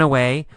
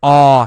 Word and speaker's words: awe: All right, we see the word awe here. A-W-E. Awe. It's pronounced awe. Awe. Awe. You don't actually say a W sound.